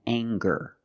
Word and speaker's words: anger: Let's talk about anger. We have the nasal sound plus the hard g, the g sound together.